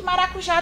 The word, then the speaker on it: maracujá: Percebam que maracujá tem acento. Já facilita muito a vida da gente em entender que o já é a sílaba tônica daquela palavra, pelo simples fato do acento estar lá, ok? E, de fato, quando a gente lê essa palavra, o já, ele é falado com mais força.